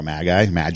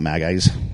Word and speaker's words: Magi: There were probably more than 3 kings, or actually wise men or magi. How do you pronounce it? Magi. Yeah, they were magi. Not magpie, not magis.